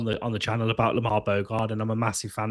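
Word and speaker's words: Lamare Bogarde: Lamar Lamar Bogard as he's announced at Villa Park, which is how you actually pronounce his name.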